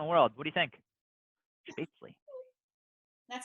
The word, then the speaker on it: Spätzle: Spätzle. That's how you pronounce it.